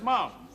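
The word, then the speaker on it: Mapledurham: Basset H oh that's Mom yes I know who's that talking to her no no his name is Mom Lester Mom it's spelled Maple daram pronounced mom he's a fellow Hunter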